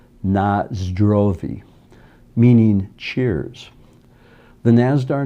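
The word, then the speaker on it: на здоровье: a search is that nostrovia is an english mispronunciation of the russian word nazdrovi meaning cheers the nazdar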